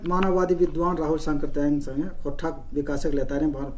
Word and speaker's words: सांकृत्यायन: था, वो राहुल सांकृत्यायन, लोग सांस्कृत्यायन बोल देते हैं, गलत उच्चारण है ये, उनका सही नाम है राहुल सांकृत्यायन।